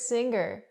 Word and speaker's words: singer: The word is not pronounced singer. I cannot pronounce the ggg, the hard g sound here. I cannot say singer. I say singer. Singer. The sound is in your nose.